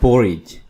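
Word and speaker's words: porridge: तली हुई दलियां पोरी पोरज यू वर्ड है पोरिज यहां पे डी को साइलेंट रखिएगा दलिया राइस चावल वालनट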